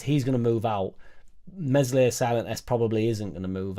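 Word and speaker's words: Meslier: look at it's crazy mesli silent S I also think he's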